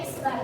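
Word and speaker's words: x̄: loh Nah itu namanya di jug car Dia X Bar atau Min ya bacanya X bar nah rumus data tunggalnya itu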